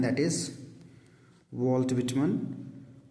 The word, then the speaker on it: Whitman: जैसे wheel word use करते हैं हम, WHEEL। तो व्हिटमन, that is the pronunciation. Actually नाम इनका था वॉल्टर व्हिटमन जूनियर।